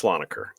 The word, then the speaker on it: Slonaker: It's Slonaker.